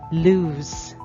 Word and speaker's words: lose: It is pronounced as lose. Again, they are not almost pronounced the same. Those Lose. Those. Lose. Have you observed the difference? That's correct. The first sound is S sound, while the other sound has the Z sound.